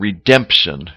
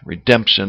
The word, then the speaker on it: redemption: we have symptom and redemption Redemption is another example where the pronunciation of the P is very clear Redemption okay to go